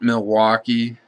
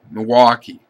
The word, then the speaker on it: Milwaukee: I included it because of the way people on the eastern part of the state pronounce it. It's not Milwaukee. A lot of people in that area just say Milwaukee, Milwaukee, Milwaukee.